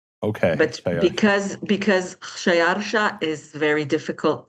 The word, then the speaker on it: Khshayarsha: Okay, wait, how did you pronounce his name? Shayalsha. Okay, But Shayalsha.